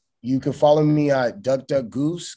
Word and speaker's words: Gousse: You can follow me at Goose. Goose is spelled Gousse. Then you go in my bio, you'll see it, but it's Goose Nest, Gousse Nest.